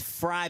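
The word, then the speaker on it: Frye: Ford saying in the chat, it's Fry, but with an E from Morgantown.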